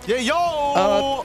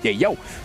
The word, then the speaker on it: Yayo: Great to hear from Izanami Yayo. Yayo! That is his actual name, and that is how it's going to be pronounced moving forward here in MSC. Yayo.